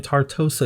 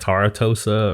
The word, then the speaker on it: Tartosa: we are building in tartosa yet again excuse me for mispronouncing this world in my last speed build i think i was calling it tara tosa or something like that i don't even remember